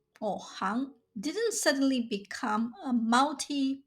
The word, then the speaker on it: 行: Since it refers to trades or professions, the pronunciation of this Chinese character is hang.